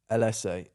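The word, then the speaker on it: Ellesse: s s e e oh this one people pronounce wrong all the time now I would say LSA I say that's not even in not this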